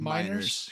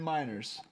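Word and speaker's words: Meinerz: How do you pronounce his last name? Miners. Quinn Miners.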